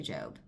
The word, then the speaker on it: Job: It's spelled like Job, but people say Job.